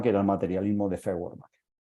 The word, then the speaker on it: Feuerbach: era el materialismo de ferach feuerbach pronunciado en alema eh decían la tesis